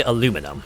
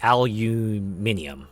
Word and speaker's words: aluminium: all to be frank I say aluminum ah okay oh we tend to say aluminium all right yeah yeah